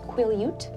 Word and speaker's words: Quileute: Ute? I'm so sorry. I believe, and I apologize everyone, I believe it is pronounced Quileute.